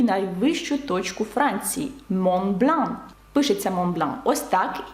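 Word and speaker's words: Mont Blanc: гарне прізвище згадаємо географію і найвищу точку Франції мобн пишеться Монблан Ось так і зараз вам зрозуміліше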